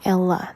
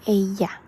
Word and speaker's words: ella: This doesn't say ella. This is ella, like j.